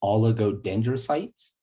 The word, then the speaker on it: oligodendrocytes: that's quite a word there but it is pronounced oligodendrocytes and they create the myelin sheaths for the